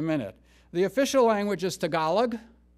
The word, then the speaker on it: Tagalog: the official language is tagalog tagalog that's how you pronounce it that's the official language